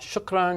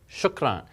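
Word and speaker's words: شكرًا: going to be pleasant shukran but notice when you see this you pronounce that as n this vowel with a noon on it now you may say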